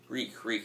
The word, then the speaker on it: Reek: Reek, it rhymes with freak.